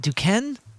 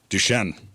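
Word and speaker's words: Duquesne: D is it duken? Duchenne. That's what I thought, but it's with a Q instead of a ch.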